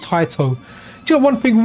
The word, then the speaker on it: Taito: I know I'll call it Tato, and it almost sounds like potato. I think it's actually pronounced Taito.